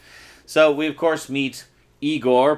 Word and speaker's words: Igor: we of course meets Igor PRO story pronounced I Gor played by the always